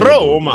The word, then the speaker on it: Roma: a typical Italian pronunciation roma roma you do want to stress welcome to roma roma in English yeah with the Italian accent welcome to Roma I really roll the R's Rome Viva La Roma